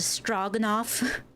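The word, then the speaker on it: Stroganoff: The O is pronounced more like log straw. It's a strogenoff.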